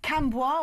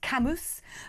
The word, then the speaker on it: Cambois: Cambois or Cambois, pronounced Camus.